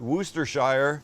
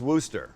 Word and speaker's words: Worcestershire: what did we learn we learned it's not Worcestershire it's just Wooster but let's see how the Brits do or